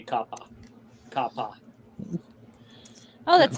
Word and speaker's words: kappa: trying well all this all the a's will always be the same so it should actually be kappa kappa oh that's like